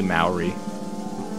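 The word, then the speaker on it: Māori: That line over the A is A, Maori.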